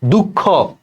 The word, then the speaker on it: দুঃখ: দুঃখ, দেখো লাস্টের খ সাথে একটা অ আছে, এটা অন্ত অ, তার আগে দেখো বিসর্গ আছে, তাইলে এই অটা ওকারের মতো উচ্চারণ হবে, দুঃখ। আর দুঃখ ক, এই যে এখানে শ্বাস ছেড়ে দিচ্ছে, উচ্চারণের নিয়মে কর নিচে একটা হসন্ত দিতে হবে, দুঃখ, ঠিক আছে।